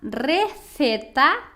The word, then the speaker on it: receta: Então, os espanhóis, né, pronunciam CE e o Z assim, C e Z, com a língua entre os dentes, tá?